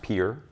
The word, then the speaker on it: Pierre: I was living in Pier South Dakota uh pronounced Pier smelled smelled spelled Pierre p i e r